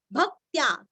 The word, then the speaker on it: भक्त्या: यद आधा द, भक्त्या, भ के ऊपर आघात, भक्त्या, क आधा त आधा या पूरा, यद भक्त्या पुंडरीकाक्षम, पुंडरी